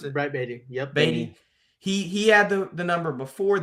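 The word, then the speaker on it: Baty: Is that how you pronounce it? Brett Beatty. Yep. Beatty.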